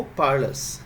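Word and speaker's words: parlous: Next word है हमारा, देखो, पार्लस। इसका उच्चारण में देखो, मैंने वैसे यहाँ पर ये र का साउंड लिखा है, वरना आप इसको थोड़ा सा स्ट्रेच देकर के वर्ड को पार्लस बोल सकते हैं।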